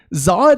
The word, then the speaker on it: Zod: And Zod goes, it's pronounced Zod.